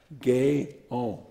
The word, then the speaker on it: Guyon: they've been to me Madame Gail pronounced gay-owned was one of the